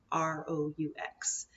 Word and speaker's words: roux: to talk about making a roux ro u X it's one of those fun French words where you don't get to pronounce all the letters but a roux is